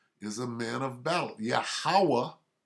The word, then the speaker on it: Yahweh: Yahweh, that's how you say it, not Jehovah.